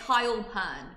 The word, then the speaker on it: Hailpern: That's how you say it correctly? It's Heil, like Heil Hitler, believe it or not. W Hitler. There you go, unfortunately. Yeah. But it's Hailpern.